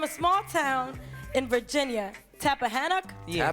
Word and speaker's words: Tappahannock: Tappahannock? Yeah, Tappahannock. Did I Shout out pronounce to it right?